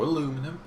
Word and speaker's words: aluminum: Dragon's Breath cartridge, a fire shotgun shell made from aluminium dust or aluminum, if you want to say it like that.